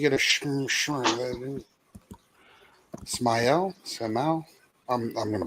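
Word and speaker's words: Smael: And this this is how you pronounce his name. Okay, ready? Smile. Mundon Jr.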